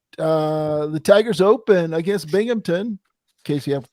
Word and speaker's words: Binghamton: normally all right uh the Tiger's open against Binghamton in case you have to tell me that's how you say it it's not it's Binghamton right case yeah you're right okay Binghamton Friday